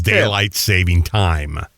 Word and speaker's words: daylight saving time: It's daylight saving time.